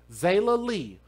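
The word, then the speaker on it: Zaila: name of Zayla Lee, which is spelled Z-A-I-L-A, and I hope I'm pronouncing her name correctly. I want to put some respect on this baby's name. Zayla Lee, 2 years old, on March the 24th, causing her death.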